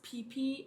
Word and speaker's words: Phi Phi: It's pronounced Phi Phi Islands, so the PH, there is no PH. Like Americans, I guess we say like PH is pronounced like F. But no, it's Phi Phi Islands, so sorry I've